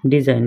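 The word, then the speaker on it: design: লাগে দুই নম্বর আছে ডিজাইন রিজাইন মানে নকশা যে এতে জি আছে জি উচ্চারণ করিব না লাগে ঠিক এনে ইয়াতে এইচ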